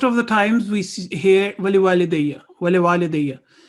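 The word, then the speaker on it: ولوالدي: Again, most of the times we hear wali walidayya, wali walidayya. It's wali walidayya because there is an alif. It will elongate the sound of wa 2 seconds.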